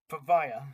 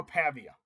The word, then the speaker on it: Pavia: stop a guy like Diego Pava or sorry guys I am struggling to pronounce his last name. I'm so sorry Mr. Diego over for Mr. Diego Pavvea for or Pavia. Okay. Diego Pavia. I finally got it figured out.